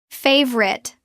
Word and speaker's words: favorite: three syllables natural pronunciation drop the middle o it becomes favorite two syllables Let's practice.